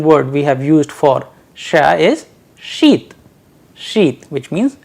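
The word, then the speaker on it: ша: how they are pronounced Shah as in shoes a sample Russian word we have used for Shah is sheath sheet which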